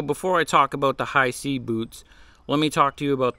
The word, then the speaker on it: Hisea: that being said the company high C I think I'm saying it right I I hope so um h i s e a high c I apologize if I'm not pronouncing it right but I think that's how you say it they reached out and